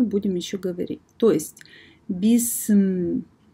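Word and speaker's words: بسم: Бисм. Бисм. То есть мы произносим син, как бы мы и произносили бисми, да, и только в конце уже говорим не ми, а мим с сукуном.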